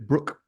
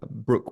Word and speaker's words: Broke: I'm from uh Philip Brook spelled broke pronounced Brook um and his ship the Shannon indeed for the rest of his life after this encounter he was known as Brook of the shanon 1812